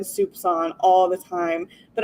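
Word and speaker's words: soupçon: all the time but I wrote it out phonetically because I wanted to pronounce it right and so I spelled it s o u p s a u n but that's not how you spell it you spell it like soupcon and it's my new favorite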